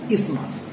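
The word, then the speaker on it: isthmus: thin flap of connective tissue which is called ismas. Though it spelling is I s t h m u s we will not pronounce it as ismas. The actual pronunciation is ismas.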